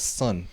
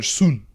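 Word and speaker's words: Sun: TV show Netflix exclusive it's called the brother's son oh yeah I remember apparently I mispronounced it was called the it's actually the brother soon soon soon um because that's like their last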